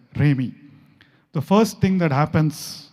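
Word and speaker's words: Rhemi: Just remember the word Remi, R-H-E-M-I. Some of you might have known Rumi, the Persian poet, right? It rhymes with that, Remi.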